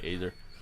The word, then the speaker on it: Azhar: Okay, Azhar. Oh yeah, that's right. They told me how to say it, like a laser.